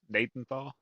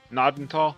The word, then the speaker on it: Gnadenthal: Nathan Thaw. It's not Nathan Thaw. Because Google says the G is silent.